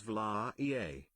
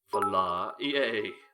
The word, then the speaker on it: Valahia: know the pronunciation for the Romanian version of the word. Valahia pronounced as Vla-ea. Vla-ea.